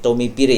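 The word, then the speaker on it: Tomé Pires: Bacanya gimana nih? Tommy Pire ya, tulisannya Tommy Pires ya.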